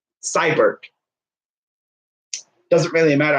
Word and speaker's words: Seibert: Seibert.